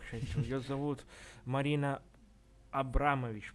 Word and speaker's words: Абрамович: Ее зовут Марина Абрамович, по-моему, ударение. Не Абрамович, а Абрамович, если я не ошибаюсь.